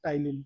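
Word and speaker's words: ptyalin: तो याद रखना टाइलीन पी इसमें साइलेंट रहता है।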